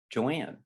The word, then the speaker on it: Joan: then there was sister joanne sister joan pronounced joanne cook uh beloved sister joan joy